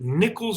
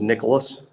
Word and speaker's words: Nyckoles: is a kid named is it nichols harbor is that how you say it i think it's nicholas nicholas okay but it's spelled n-y-c-k-o-l-e-s yeah i think i think he pronounces it nicholas okay i don't care